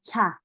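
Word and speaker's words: 차: or car same cha so you have to pronounce very well it's not the same like the ja or sa it's a cha cha is put your teeth together and break it chat with air cha and next alphabet is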